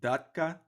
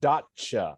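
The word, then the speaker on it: Datça: living in in this area in turkey called dhaka is that correct uh almost dacha i had to make that correction when i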